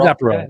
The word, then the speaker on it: Aperol: Maybe Aperol. Is it Aperol? Apero? How do you say that word? Aperol. Yeah. It is Aperol. Yeah, you got it.